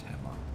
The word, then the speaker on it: Hema: dude it's for the Hemma or I don't think it's pronounced hea I'm pretty sure it's Hema at the dojo it